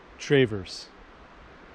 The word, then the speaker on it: Traverse: good actually we're here lake travers i think that's how you say it i just talked to a guy that's how he said it all right the parking